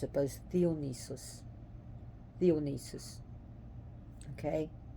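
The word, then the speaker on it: Διόνυσος: debauchery and lunacy that's Dionysus how we pronounce it by theonesis theonesis okay the D is actually like a short th like th I should say DH so imagine pronouncing dog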